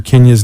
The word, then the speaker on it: Kindya: Kenya's name so the D is silent it's ki and dy